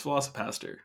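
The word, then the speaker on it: VelociPastor: Yeah, it's Velocipaster.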